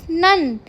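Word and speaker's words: none: देते हैं हम नेक्स्ट होमोफोन है हमारे पास नन एन ओ एन ई नन मतलब होता है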